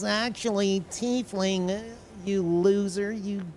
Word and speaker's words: tiefling: There no IE in the English language that says I?